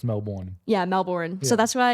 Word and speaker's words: Melbourne: my hometown Melbourne Florida um that one's actually pronounced Melbourne yeah Melbourne so that's why if Melbourne if